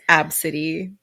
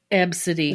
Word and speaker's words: Abcde: It's ABCDE, and it's pronounced Absidy. Absidy.